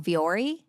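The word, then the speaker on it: Vuori: Jake, my husband, he would go over to I'm going to say it wrong, Viore.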